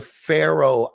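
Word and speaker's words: Faroe: It's called the Pharaoh Islands, but it's spelled F A R O E.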